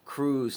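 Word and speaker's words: Kruse: i didn't know doctors like the great jack crews now uh it's spelled k-r-u-s-e and it's the krusc longevity center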